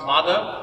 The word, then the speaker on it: Madhav: don't know me, uh my first name is pronounced Mada. Uh I've heard every possible variation of this and and and I won't be offended as long as you're close enough.